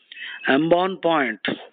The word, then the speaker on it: embonpoint: Embonpoint, embonpoint. The T is silent.